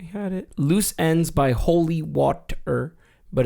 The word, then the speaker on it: Holywatr: Holywatr, but it's spelled Holy, W-A-T, and then R. So like, Water. What? Okay. No, I think it's just water, and I think it's just water. I'm just trying to pronounce how it would look